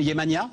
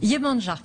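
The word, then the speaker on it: Yemanjá: Yemania, ça se prononce à la... Perdu, presque. Yemanja. Yemanja. En français. Yemania, ce serait... Brésilien. Non, ou serbo-croate. Voilà. D'accord.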